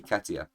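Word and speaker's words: Keita: We'll get into that because first we've got to talk about Nathaniel Wood versus uh uh Ket Ketier los ani Ketia. That's how you say it.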